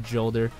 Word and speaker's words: Jolder: Lord, such as Felwinter, Jolder, or Skori, or Yolder if you want to say it like that.